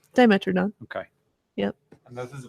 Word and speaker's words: Dimetrodon: a dimetrodon diameter of some kind is that pronounced dimetrodon okay yep and this is a bird i